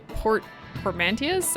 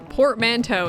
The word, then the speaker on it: portmanteau: acronyms and of course portformantius i'm not entirely sure what that means have you ever heard of the word frenemy it's a or this is portman wait portmanteau is how you pronounce it it's play portmanteau a